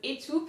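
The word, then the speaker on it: étoupe: that i chose was etup so actually roughly speaking similar pronunciation so the first e is a again and i obviously had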